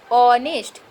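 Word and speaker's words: honest: ऑनेस्ट। यहाँ पर आ का उच्चारण हो रहा है, इसलिए यहाँ पर भी एन होगा।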